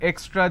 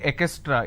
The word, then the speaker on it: extra: Lot of people mispronounce this word extra, they say ekestra. It's not ekestra.